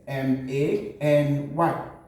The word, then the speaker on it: many: a and Y pronounced any add letter m m a n y which we pronounce many and lots more let's consider this